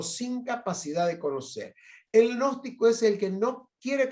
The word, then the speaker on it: gnóstico: Se pronuncia gnóstico, porque viste que está la G ahí metida, así que centro gnóstico.